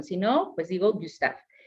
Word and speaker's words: Gustave: Y entonces, en el caso de Gustave, pues no hay que pronunciar la E final, ¿no? Son mudas.